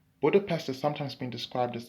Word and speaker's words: Budapest: Stephen's Basilica in Budapest, Hungary, or more accurately, it's Budapest.